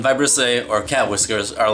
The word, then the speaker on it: vibrissae: I like this thing they're called by bristle a which I think is how you pronounce it it's kind of spelled like vibrate and I'll put it right here in vibrissae or cat whiskers are